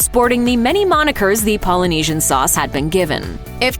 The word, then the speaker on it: Polynesian: the different ways the adoring public butchers the pronunciation of Polynesian sauce. Some of the more interesting interpretations of the name include things like playground sauce, Himalayan sauce, Pomeranian sauce, Polyasian sauce, and the Asian joint.